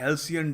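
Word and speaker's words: halcyon: देखिए इसको बोलते हैं हेल्सियन डेज।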